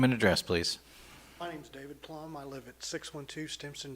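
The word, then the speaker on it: David Plumb: My name's David Plum. I live at 612 Stimson Drive. David Plum?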